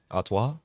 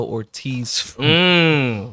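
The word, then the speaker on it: Artois: Stella yes I do how do you say the second part of that name atwa this gentleman ordered a Stella Ortiz like with a straight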